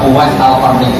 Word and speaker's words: Uwais Al-Qarni: Bacanya Uwais Al-Qarni, jangan salah harokat.